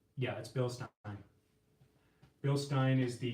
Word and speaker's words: Bilstein: the Billy Goat it's yeah that's bill stop bill Stein is the correct pronunciation some people actually like wow you actually saved the right way but yeah it's Bill Stein not Bilstein so let's see here right Park is burning